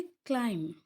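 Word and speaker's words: climb: Next column में है क्लाइम, यानी चढ़ना, पहाड़ों पे चढ़ना, छत पे चढ़ना, सीढ़ियों पे चढ़ना। क्लाइम, इसमें भी बी साइलेंट है और साउंड जो है वो एम पे ही ख़त्म हो जाती है।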